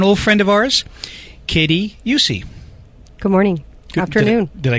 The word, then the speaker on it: Eucce: mcra mcera I knew I was going to mispronounce it and an old friend of ours Katie yussi good morning afternoon did I get it right